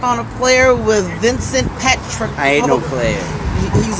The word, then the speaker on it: Patricola: Is it pronounced Patricola? Patricola.